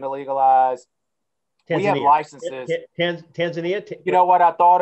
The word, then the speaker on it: Tanzania: tanzania is looking to legalize we have licenses tanzania you know what i thought it was tanzania and everybody says no you're pronouncing it wrong it's tanzania i was like